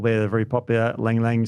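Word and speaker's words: ylang-ylang: Now, you mentioned a couple there that are very popular, Lang Lang, spelt with a Y.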